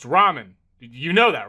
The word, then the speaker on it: ramen: Door Dash is on its way to deliver some Raymond, and I don't want to spill any around the pyramid floors. Uh, it it's pronounced ramen.